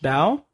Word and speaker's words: Bao: I assume that it's pronounced Bao.